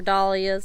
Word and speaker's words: dahlia: This bed has volunteer tomatoes, marigolds, lilies I planted, dahlias, or dahlias, some people pronounce them. I was always taught dahlias, so to each their own.